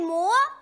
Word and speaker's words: 磨: 是三声，镜未磨，磨是二声。